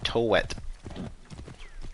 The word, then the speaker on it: Thoth: how do you pronounce thoth his actual egyptian name is uh toet so yeah you can see how it would be transcribed as thoth but uh not really the same okay a few hundred